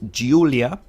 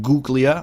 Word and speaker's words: Giulia: The model name is Giulia. Giulia. It is not Guglia or anything like that. It is Giulia. It's the name Giulia, of course.